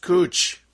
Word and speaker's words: Couch: street that has spelled cou CH but is pronounced coach I love visiting new places so now the